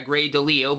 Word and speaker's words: Grey DeLisle: retrospective video on her but now now I pronounced it right right so yeah grey delisle but and I'm between the Little Mermaid -